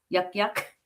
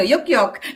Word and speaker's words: Yuk Yuk: Yak Yak? Yuck yucks. So very Filipino. Yuk Yuk.